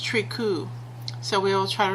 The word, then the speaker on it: Tricou: we are in Sims 2 resurrecting the tros trius sorry um I actually found um how they're supposed to be pronounced from a website called Behind Blue Lake